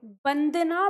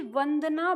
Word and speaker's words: वंदना: इसे आप क्या बोलोगे बंदना बोलोगे कि वंदना बोलोगे वंदना बोलोगे क्योंकि यहां पे ये व है व करके बोलना है तो जब हम इसका